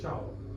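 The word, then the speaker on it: ciao: तो प्रचलन की भाषा में या पॉपुलैरिटी में, इन द वे of popularity that they से चाओ, ओके, सो ऐसा जिसके अंदर कोई there is no pronunciation rule, but even if यू are speaking it एज सियाओ तो that is also okay, you कैन से, and that person in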